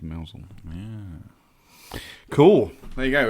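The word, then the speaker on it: Mousehole: So yeah, spelt mouse hole, Mouse hole. but pronounced Mousel.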